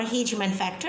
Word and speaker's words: Hageman factor: Activated Hagman factor or Hageman factor, as you pronounce it, is activated following tissue injury.